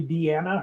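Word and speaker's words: Deana: It's spelled like it would be called Dina, but it's actually Deanna. Her mom forgot to add the second N, but still pronounces it Deanna.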